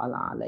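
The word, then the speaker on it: الأعلى: Jadi bacanya jangan ditekan-tekan bacanya, sebagaimana ya seakan-akan ada hamzah di situ ya.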